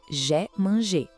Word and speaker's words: j'ai mangé: A pronúncia é j'ai mangé. Esse som do I é bem fechadinho, quase um E.